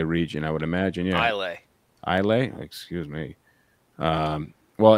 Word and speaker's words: Islay: I always call it Islay. You call it Islay? Yeah. Even with the S. That's how it's pronounced.